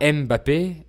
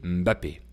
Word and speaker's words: Mbappé: En effet, on ne prononce pas Mbappé, mais on dit Mbappé.